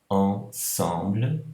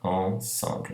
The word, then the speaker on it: ensemble: Aqui, ensemble, não é? Mas o problema aqui é que ele é precedido de uma outra vogal, I. Então aí, por conta dessa precedência, o som não é mais pronunciado como on, mas como an.